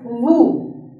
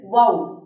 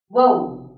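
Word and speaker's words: woe: you is wow see most of you would pronounce this particular word as Wu w e you would say it as Wu which is a wrong pronunciation the correct pronunciation is wow wow w e wow clear and the meaning for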